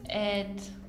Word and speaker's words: et: Il s'appelle Carlos et... Carlos e. El I en francés se dice E, no pronunciamos la T.